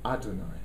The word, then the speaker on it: יהוה: sacred name of God it's the Y which is pronounced Adonai so I'm going to